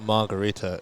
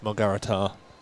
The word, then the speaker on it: Margarita: Also thinking about it, the way that the Armenians pronounce names, they tend to stress the final syllable. Arakelian, for example, it's probably not Margarita, it's Margarita.